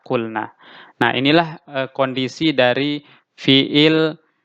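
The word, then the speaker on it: قل: amrnya menjadi cool Nah kita tidak mengatakan cool nah tidak tapi waunya dibuang sehingga kita membacanya Qul Nah inilah kondisi dari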